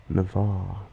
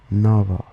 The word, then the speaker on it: Navarre: I have family from Canada and friends from the US, and when I say my name, which is Navarre, they think I'm saying Nava instead of Navarre, hence the nickname Nava.